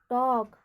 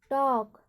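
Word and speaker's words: talk: तो हमारा रूल कहता है कि जब एल के अंत में आए तो हम एल का उच्चारण नहीं करेंगे। तो क्या पढ़ेंगे इसको, टॉक, टॉक।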